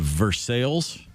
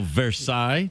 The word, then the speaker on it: Versailles: just Pier yeah um there's a town in Kentucky called Versailles the original Versailles yeah it's Versailles Kentucky and there's a pronouncing